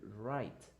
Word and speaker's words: write: not WR you don't don't pronounce the W don't pronounce the W it is only right it's similar to your